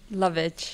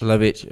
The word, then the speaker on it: Lovage: Oh, how do you pronounce that? Lovage. Lovage.